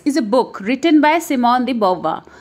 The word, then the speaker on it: Simone de Beauvoir: मस्त right introduction इस N book written by semen दी बा सो दिस नाम इसे एक्चुअली एन फ्रेंच नाम थॉट्स वही आईटी इस प्रोनाउंस इन दिस वे सही वज एन फ्रेंड्स